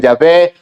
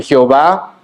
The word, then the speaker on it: Yahvé: Algunos lo pronuncian Yahvé, otros en una mala transliteración le dicen Jehová.